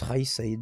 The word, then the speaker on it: Kaïs Saïed: L'avantage, c'est que Kais Saied, il parle, je crois que ça se prononce Raïs Saïd, d'ailleurs, je le prononce très mal, qui parle français, du coup, qui a été interviewé par France 24.